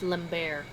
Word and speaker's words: Lambert: the production's direction Christopher Lambert who played the iconic Raiden it's pronounced Lair was unavailable due to